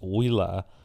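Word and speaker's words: Ooyala: Oila shows iPad owners more involved in video.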